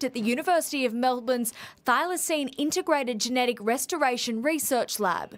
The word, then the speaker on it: thylacine: the wild real quick uh you said a thylacine thylacine i think i was saying it right right thylacine all right all right it's a weird name